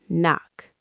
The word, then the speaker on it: knock: Knife, night, no, knock. The K is silent in all of those.